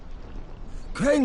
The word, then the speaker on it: Crane: Crane rhymes with train, and brain, and sane, and grain, and rain, and plane, and the other kind of plane, and...